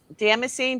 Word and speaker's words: damascene: it dam- I call it damascene. Damascene. Damascene, like Damascus.